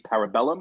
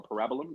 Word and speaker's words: Parabellum: John Wick Chapter 3, Parabellum, or Parabolum, if you feel like being goofy and putting the emphasis on the wrong syllable.